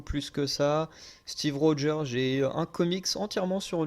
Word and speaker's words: Rogers: le tournoi estce que le Rogers avec le D alors que techniquement c'est juste un son que le g fait tout seul quand tu prononces à l'anglaise Firestar je connais pas